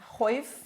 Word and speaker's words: chwyth: Chwyth. Chwyth rhymes with teeth.